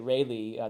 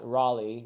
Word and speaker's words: Rayleigh: I think that's how you say it, Rayleigh, not Raleigh, which is Raleigh is the Sir Walter Raleigh, whom I'm assuming, named